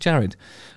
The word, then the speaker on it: Jared: Yeah, Jared. Sorry, I tried to pronounce it with a sort of Eastern European thing, but it's not. It's just Jared.